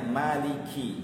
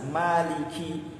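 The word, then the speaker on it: مَالِكِ: kedengeran disukunkan dalam artian kini kalau kita membacanya kadang cepat-cepat itu seperti sukun mati Maliki mazhab Maliki yaumiddin Malikiyaumiddin langsung kayak sukun gitu padahal kasrahnya harus jelas Maliki Malikiyaumiddin ciharus jelas jangan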